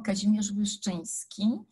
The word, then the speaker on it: Kazimierz Wyszyński: David, tu m'as présenté comme la représentante de la Fondation Kazimierz Wyszyński, ce qui est vrai. Et ce nom qui est tellement polonais et qui se prononce difficilement, Kazimierz Wyszyński, c'est le patron de